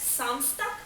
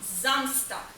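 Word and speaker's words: Samstag: замста ще один момент літера S на початку цих слів утворює звук з тому не самстак а замстак не сонтак а зонтак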